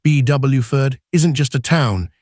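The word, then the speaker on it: Beaufort: Bofort, pronounced Bwford, isn't just a town.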